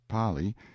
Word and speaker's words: Pali: the frightful precipice of the Pali pronounced Pali intelligent natives claimed that there is no R in the kanaka alphabet in front and then